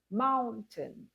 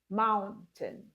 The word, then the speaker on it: mountain: Finally, we have mountain. Mountain. Mountain. You stress the first syllable and you don't pay a lot of attention to the second syllable.